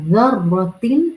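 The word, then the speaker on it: ذرة: ये ज़र्रा, फमन यअमल मिस्क़ाल ज़र्रतिन, ये ज़र्रा ज़ा की नरमी के साथ अदा किया जाता है। When you will pronounce this ज़ाल, तो आपकी टिप ऑफ the tongue will come slightly outside from front teeth incisor से।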